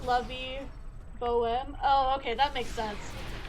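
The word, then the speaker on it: La Vie Bohème: It's pronounced Lovey Bohem.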